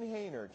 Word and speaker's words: Haner: is it Hayner? Is that how you pronounce Hayner, it? very good. Hayner.